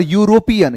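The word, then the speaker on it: European: ये यूरोपियन में ई साइलेंट होता है और यू का साउंड निकलता है वाई वाला।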